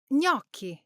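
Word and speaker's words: gnocchi: But in Italian gn creates a single soft nasal sound.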